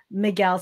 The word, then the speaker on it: Miguel: Miguel. So M-I-G-U-E-L, the U is silent.